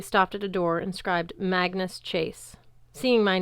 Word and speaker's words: Magnus: People tended to spell it Magnus rhymes with Angus. I always corrected them. No, it's Magnus rhymes with swagness.